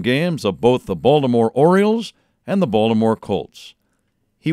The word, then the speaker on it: Orioles: I always liked the way he made a point to pronounce the second O in the word Orioles.